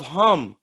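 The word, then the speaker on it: Khem: may the children of hum fly to the children of hum abraham the children of ham due at home is spelled k h e m not h-a-m it's spelled k-h-e-m hum hum exactly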